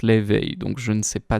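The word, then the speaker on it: Laufey: God of War euh bah du coup ça se ça s'écrit loi enfin L A U F E Y mais du coup c'est comme la chanteuse et la chanteuse elle se prononce l'éveil donc je ne sais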